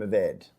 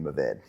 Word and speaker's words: Mourvèdre: Mourvèdre, is that how you pronounce it? I mean, I'm not French, so I mean my we say Mourvèdre or Mourvèdre. People say Syrah, Shiraz, like everyone has that. And Aussies say Mataro. Mataro is the same as Mourvèdre. We like to think we're quite sophisticated in Franklin. We use the French pronunciation.